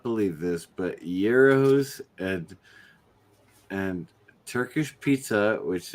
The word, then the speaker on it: gyros: this right Gyros gyos my whole life I've been pronouncing it wrong because I've been thinking of it like a gyro so that's what I yeah like a gyroscope for sure bro totally Euros in Greek shawarma in AR Arabic